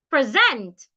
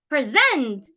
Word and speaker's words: present: Present. Present. In that word, I am stressing zent. Present, not present.